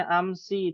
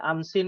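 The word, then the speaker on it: أمس: mabni ya isi mabni dia tetap dibacanya tulisannya amsi tidak boleh amsin amsun amsan enggak bisa ya masuknya ke mana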